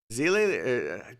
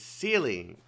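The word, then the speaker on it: Seele: Zele, God, they got me saying Zele now. It's Sealy, but they pronounce it Zele in the English voiceover.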